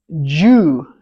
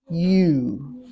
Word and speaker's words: you: what I'm hearing is Jew Jew yeah now you don't want to say Jew or hue you want to say just you you you United United